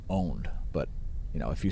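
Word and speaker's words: pwnt: it's actually just pronounced owned but you know if you spell it p-w-n-t if you spell it p-w-n-t it's still pronounced owned so don't say don't say pwn or pont it's it's still owned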